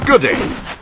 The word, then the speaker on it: G'day: Oh, Biff, Biff, no, it's good day. Like duh, you pronounce the guh sound.